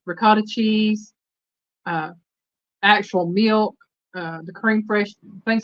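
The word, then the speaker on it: crème fraîche: Well, it's called cream fresh, but it's spelled Fraiche.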